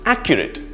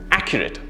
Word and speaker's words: accurate: not accurate no it's accurate three syllables with the stress in the first syllable accurate try it with me and you'll realize how the difference is accurate awesome let's look at